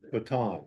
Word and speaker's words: Baton: I was just gonna mention that his name was pronounced Baton. Baton.